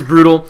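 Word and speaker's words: Brut@l: the at sign l so it's actually brute tattle but no no it's it's brutal and the reason and and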